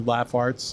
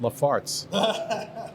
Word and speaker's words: Laugh Arts: And so we went off and we were Laugh Arts. And we were Laugh Arts until we realized that people didn't want to hire us because they were pronouncing Laugh Arts Lafarts.